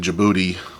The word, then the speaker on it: Djibouti: head um you know when I think about the name Djibouti now that I know how to say it yeah I'm just like why the D why put the D I mean come on just to confuse everybody how to say that all